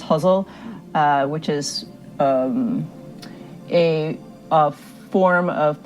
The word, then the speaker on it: ghazal: week was to write a ghazal or guzzle, maybe pronounced huzzle, which is a form